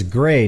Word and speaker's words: Gray: Yeah, my name's Gray, not Gary, okay?